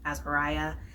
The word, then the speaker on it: Azariah: It is spelled with an H at the end and it's pronounced Azariah. And it's a man's name in the Bible.